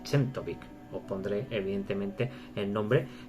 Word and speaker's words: Czentovic: Yo he dicho, entiendo que se pronuncia Chentovic.